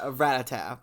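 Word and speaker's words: Rattata: long form descendant of a mutated rate that ratata by the way that's how we pronounce the ratata that mutated after the chunk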